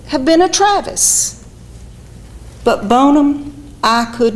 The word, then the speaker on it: Bonham: james bonham pronounced bonum in his native saluda county together with his boyhood